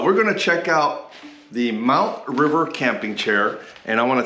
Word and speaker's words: MTRVR: And a company called Mount River, and it's pronounced or spelled MTRVR, and sent me a high back camping chair.